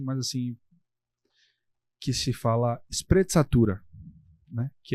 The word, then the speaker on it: sprezzatura: vi na internet, mas assim, que se fala sprezzatura, né, que é você lidar com muita elegância, com muita tranquilidade de que vai dar certo aos movimentos da vida.